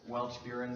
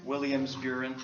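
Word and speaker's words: Williams-Beuren: WBS, which is Welch-Buren syndrome, if I'm pronouncing that right. Yeah, Williams-Buren.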